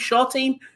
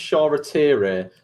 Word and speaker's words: Shoretire: Is it Shortine? Well, actually, he's pronounced Shoretire, but I'm not having any of that because he's English. It's Shola Shortire.